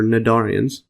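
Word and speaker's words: cnidarian: the the sadarian or narian narian narian it doesn't pronounce a c yeah so it doesn't actually have the C I Google it it still doesn't have it so narian uh so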